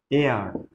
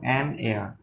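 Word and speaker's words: heir: Dash এআর। বন্ধুরা, এখানে এইচ এর উচ্চারণটা এ আর, অর্থাৎ ভাওয়েলের মতো এর উচ্চারণ হচ্ছে, তাই জন্য আমরা এখানে এআর করতে পারবো না। কি করবো? অ্যান এআর।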